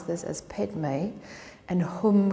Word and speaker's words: Hum: The Buddhists sometimes pronounce this as Padme, and Hum can be hung with an ng at the end, but it's the same mantra, Om Mani Padme Hum.